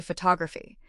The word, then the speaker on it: photography: Think of the word photograph. The stress is on the first syllable. Po to graph. But look what happens when we change it to photography. The stress moves to the second syllable. photograph. Did you hear that? The O in photograph was strong. But in photography, that first O turned into a schwah.